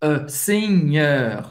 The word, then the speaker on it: Seigneur: Em francês, le Seigneur, EU em francês tem o som do E bem fechado. Seigneur, Seigneur.